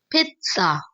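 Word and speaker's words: pizza: इसे आप लोग बोलेंगे पितसा पित पित ओके रिपीट आफ्टर मी पित पित्सा डेली डेली खाएं जरूर लेकिन इसे सही प्रोनाउंस करें।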